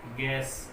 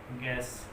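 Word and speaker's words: guess: तो यू जो है वो साइलेंट कहाँ रहेगा, इसके लिए एग्जांपल देख लें आप। जैसे गार्ड, गार्ड इसमें यू से पहले जी आया है, और गैस, सॉरी, गैस, यू से पहले जी आया हो, जी आया हो तो यू साइलेंट रहता है।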